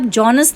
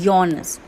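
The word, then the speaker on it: Johannes: अब बेटा इसकी स्पेलिंग आपको दिखेगी जॉनस burger, जॉनस Gutenberg, but ये आप जॉनस नहीं बोलते हैं, इसका जे साइलेंट होता है। We pronounce it एट योनस।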